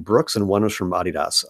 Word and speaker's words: Adidas: and one was from Adidas, otherwise known as Adidas if you're American. And I just did that to be cool, but that is how you pronounce it.